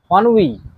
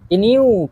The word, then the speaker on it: ennui: Ennui. Ennui এর pronunciation ইনিউ কেউ উচ্চারণ করবে, বাট এর সঠিক উচ্চারণ হবে ennui।